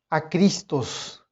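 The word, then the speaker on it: ἄχριστος: Y en la pronunciación en el griego, muchos eruditos dicen que muy probablemente la pronunciación de ambas palabras, acrestos y acristos, la pronunciación era igual.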